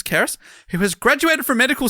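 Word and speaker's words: Cerys: It's Welsh, lol, because it's spelled Cereys, but he's pronounced Keris. Keris, who has graduated from medical school and starts life as a doctor soon.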